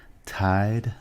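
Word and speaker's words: Tiede: Wounded Heart Vicki uh tied I believe is how you say her last name t-i-e-d-e is the author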